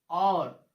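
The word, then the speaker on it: hour: इसको हम हॉवर नहीं पढ़ेंगे, क्या पढ़ेंगे, और, ऑनर, ऑनेस्ट, ऑनरेबल।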